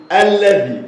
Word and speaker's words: الذي: الحروف خد بالك بقى الاسم الموصول ده في حرف ينطق ولا يكتب ينطق ولا يكتب ايوه ينطق ولكن لا يكتب زي التنوين بالظبط ينطق